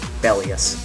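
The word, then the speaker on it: Belias: got it now actually it should be pronounced the bellus yeah I think that's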